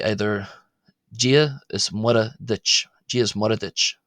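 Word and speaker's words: Muire: Not Mura. Again, here we can see this other slender R. You would think that's pronounced Mura if you're speaking in English, but it's actually Gia, Gia is, which is a form of the word and.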